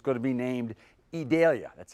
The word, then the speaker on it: Idalia: Cyclone become a tropical storm and then eventually a hurricane, and it's going to be named Idalia. That's how we're pronouncing it, Adalia or that's how we've been told to pronounce it.